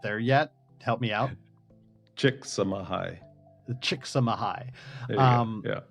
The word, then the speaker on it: Chicxulub: Chicxulub. The Chicxulub. Yeah. It sounds almost like saying thank you in Korean. Kamsahamnida. Kamsahamnida. Chicxulub.